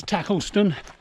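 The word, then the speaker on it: Tacolneston: How do we pronounce them? Well, we already know about Stiffkey. And the other three, well, it's Tackleston, Windham and Haysborough.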